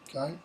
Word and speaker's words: ac: So if the C comes after or before an A, a O, or a Y, it's going to be k, like in the Old English word ok, AC, which means but.